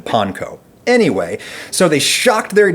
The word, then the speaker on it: panko: the Philippines, but regardless, this is all why the guys over at Upper Crust favor the pronunciation panko.